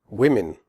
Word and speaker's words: women: not say ants were women the Oh in women has a different sound than the Oh in the singular form woman in women the O is pronounced e as in the word win the e in women